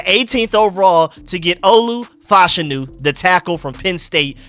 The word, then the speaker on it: Fashanu: round you give me Olu fashanu I mean fashanu my fault that's the better way to pronounce it I keep hearing or